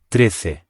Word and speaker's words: trece: The first syllable is quite short, and again, remember that C followed by E or I makes a th sound in European Spanish.